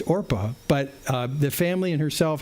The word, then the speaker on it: Orpah: It comes from Orpah, which is from the book of Ruth, and her real name is Orpah. It's Orpah, but the family and